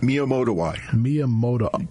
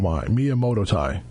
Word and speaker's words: Miyamotoi: Now, this last one you mentioned, and I can pronounce Borrelia, but give us the second part of that word. Miyamotoi. Kind of just rolls off the tongue. Miyamotoi.